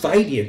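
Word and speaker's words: vitae: called my father's curriculum viti i always look that up in the dictionary it's pronounced fighty according to my dictionary and sometimes i read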